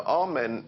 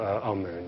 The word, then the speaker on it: Amun: important deities was amen now amen is the pronunciation that the Hebrews give it and some Scholars agree to use that pronunciation aroon is the pronunciation given to it by one of the old European scholars plutar in the language of K the word for hidden is IM or Amun is the way that we U put it in